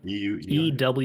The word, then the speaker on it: ewer: actually looks a lot like the wine you spell it? pitcher. EWER.